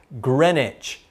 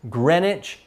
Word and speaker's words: Greenwich: little town or city in england it's it's pronounced greenwich i know it says green but this pronunciation is greenwich england so the prime meridian goes through that